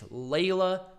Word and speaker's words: Leyla: People bitching me about me mispronouncing Layla's name. It's Leyla Hirsch.